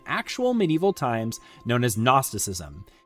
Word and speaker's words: Gnosticism: medieval times known as Gnosticism. Yeah, there's a solid G in there, and believe me, the name's pronunciation doesn't get better from here.